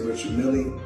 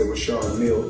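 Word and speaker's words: Richard Mille: Now I must let everybody know cuz everybody pronounce it different. Some say Richard Millie. Myself I say Rashard Mill because that's what I was told in 2012 when I first purchased the watch.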